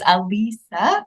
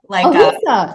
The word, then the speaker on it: Alisa: It is Alisa, Alisa, yeah. Just one Lisa.